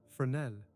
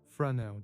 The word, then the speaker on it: Fresnel: Fresnel, the name is French, and is pronounced with a soft subtlety that I spent some months learning to approximate correctly. Fresnel developed his theory of